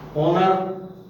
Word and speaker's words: honour: ऑनर, HONOUR हुआ, लेकिन होनर नहीं बोला गया, ऑनर बोला गया।